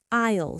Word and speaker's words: aisle: Four, aisle seat, pronounced aisle seat, the seat next to the walkway. S is silent. Don't let it trick you.